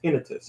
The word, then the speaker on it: tinnitus: cases of erectile dysfunction tinnitus what tinnitus so that I've heard it it's supposed to be pronounced tinnitus you're going to say